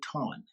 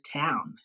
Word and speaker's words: town: elderly people um say ton right if you hear that no is town right it's town but it's a very common um mispronunciation that you will hear a lot ton town okay good